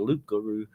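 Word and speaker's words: loup-garou: Now, the loop guru is really the just a sort of French way of saying the creole way of saying a werewolf. The French, I think, pronunciation for that is the Lukaroo.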